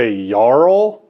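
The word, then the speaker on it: Jarl: um this is a yarl apparently I'm going to say it as yarl um because that's just how the Danish pronounce their J's I believe um and the Paul's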